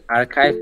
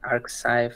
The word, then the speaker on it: arXiv: with the papers oh I got it they spell it archive but it guys like archive archive archive yeah yeah I'm not sure how